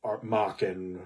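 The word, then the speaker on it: Machen: it now like Alon Blackwood and um uh mockin who rhymes with Dawan and and people like that um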